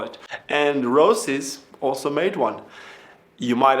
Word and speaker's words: Roces: This video is a skate review of the new Roces, and now I know how to say the name, it's Roces X35.